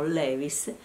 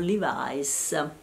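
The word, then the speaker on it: Levi's: quel punto i Levis i jeans che noi chiamiamo Levis in America li chiamano livis quindi paese che va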